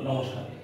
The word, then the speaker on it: নমস্কার: দন্ত ন ম দন্ত স্বয় প আকার কয়দিনগুলো নমস্কার, এই নমস্কার শব্দটি আমরা যদি কয়ের আগে দন্তস্বটা উচ্চারণ হয়েছে না আসলে কয়ের পরে উচ্চারণ হয়েছে